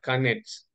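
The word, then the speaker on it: конец: 9 itu bacanya kanets.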